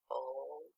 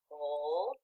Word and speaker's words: whole: Hole. What hole? What hole? Is that a word? No. That W is silent, right, readers? Whole.